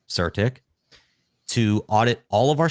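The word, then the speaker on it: CertiK: now we're using surtic actually the way you've pronounced their name technically is Serta K but surtic to audit all of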